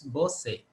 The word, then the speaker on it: Bosse: with pronouncing my name it's bo say oh boy we i hope is it an english name or a community name no it's it's actually swedish i was named after